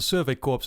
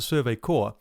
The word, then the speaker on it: Survey Corps: uh and i still keep calling it the survey corpse even though i've actually been told that it's supposed to pronounce the survey core so i'm gonna be doing that from that